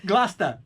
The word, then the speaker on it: Gloucester: I don't know how to pronounce it. I'm going to do this one last. Gloucester, what it up? Gloucester.